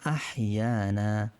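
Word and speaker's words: أحيانا: আলহামদুলিল্লাহিল্লাযী, জি না জি, হ্যাঁ ইয়ানা এখানে হ দেওয়া, হা দেওয়া মানে, তো এটার মূল উচ্চারণ আহিয়ানা, আহিয়ানা বা'দামা।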